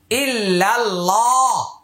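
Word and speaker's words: إلا الله: আল্লাহ শব্দের পূর্বে জবর অথবা পেশ হইলে আল্লাহ শব্দের উচ্চারণ মোটা হবে, আর জের হলে পাতলা হবে।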